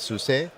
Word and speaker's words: SUSE: Talk to me about the relationship with SUSE and how that plays into it for you.